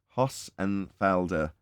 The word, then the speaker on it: Hossenfelder: I can move on passenger there we go Hoss and Felder Sabine hostenfelder is the name of the channel